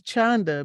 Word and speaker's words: Chanda: And he was making sure he pronounced her name right. And she said, yes, please, Chanda, because Chanda means shame in Hebrew, in Yiddish.